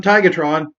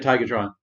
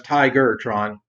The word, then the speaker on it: Tigatron: Also, it can't be the only one who thought growing up that his name was Tigertron. What do you guys think? Did you pronounce it with the hard ER or the?